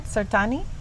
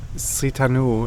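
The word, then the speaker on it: Srithanu: Sirtani? Sitanu, it's Sitanu, called.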